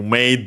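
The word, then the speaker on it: まで: So actually, when we add made should be accent on the first mora.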